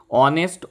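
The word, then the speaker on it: honest: অনেস্ট এই যে এইচ এর উচ্চারণ যখন অ বা আ তখন তার আগে কিন্তু এন বসে। হ না হয়ে যদি অরস হতো এ হর্স হতো। অনেস্ট অ উচ্চারণ হচ্ছে তাই জন্য অনেস্ট অনারেবল আওয়ার এই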